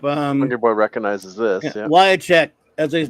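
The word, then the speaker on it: Wiacek: Wyachek, as they pronounce his name, Bob Wyachek.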